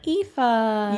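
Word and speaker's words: Aoife: we can talk about is the wedding planner EA EA I didn't know that's how you pronounced it well I listened to the audio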